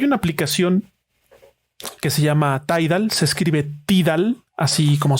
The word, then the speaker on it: Tidal: a votar hay una aplicación que se llama tide al se escribe tidal así como suena t y latina